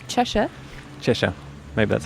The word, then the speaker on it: Cheshire: If you're from England, it's Chesha.